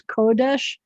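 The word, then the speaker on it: קֹדֶשׁ: are the noun forms kodesh the accents on the first syllable um and then you're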